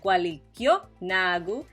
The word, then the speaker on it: gualikyo nagu: You may have noticed that gualikyo nagu has an accent on the kyo part of it.